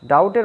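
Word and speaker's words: doubt: Stipulate, ডাউট, ডাউটের বানানটা দেখো, ডাউট মানে কি, ডাউট মানে হচ্ছে সন্দেহ করা, এখানে ডাবট উচ্চারণ হবে না, বীর উচ্চারণটা হবে না।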